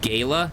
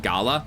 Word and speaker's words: Gala: Now Gala is pronounced Gayla, not Gala.